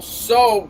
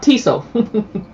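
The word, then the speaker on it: Tso: you put this general soa sauce how do you pronounce it general so it's not tiso right right right a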